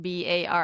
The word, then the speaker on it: barre: B A R R E Bar.